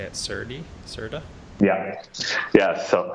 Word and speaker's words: serde: how to say it, Serda? Yeah. So it's how we actually say the name of that. I say Serde, but I think it stands for serialize, deserialize.